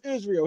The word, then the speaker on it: Israil: His name is Israel. His first name Israel. Israel. So okay. They split it. Israel's a little the long, correct pronunciation.